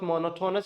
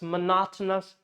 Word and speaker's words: monotonous: It's not monotonous, it's monotonous.